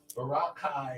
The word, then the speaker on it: Boracay: I saying it wrong Baraka is how they say Boracay I don't know how